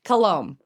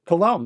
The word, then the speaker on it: Coulombe: Coulombe. Coulombe, that's how I said it. I know. Yeah, my husband is French Canadian, so I just tell people it's more French than English, and so the B's silent, so it's fine.